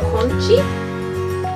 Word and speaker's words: 콘치: They're called conchi? Oh, that makes sense. Conchi. That's the same thing in English except corn chi. Just don't pronounce the R.